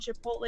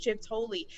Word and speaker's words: Chipotle: He's also convinced the restaurant Chipotle is pronounced Chips-Holy.